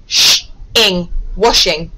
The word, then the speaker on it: washing: are washing again i've got a w followed by w it should be the short o sound the short o sound let me read that again washing that sounds much better